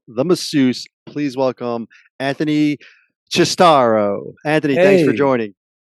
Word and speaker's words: Cistaro: Please welcome Anthony Cistaro. Anthony, thanks for Hey, joining. thank you, Tony, and extra credit for the proper Italian pronunciation.